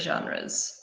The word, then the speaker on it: genre: what are your favourite genres exactly so remove that this is a French word and we use it in English so it's the same pronunciation genre and it's the type